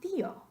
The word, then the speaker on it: tío: for uncle in Spanish, how would you say that in one syllable? Try it. I bet you sound pretty silly. I will do it myself. Tío, tío, es ridículo. No queremos decir tío, sino tío.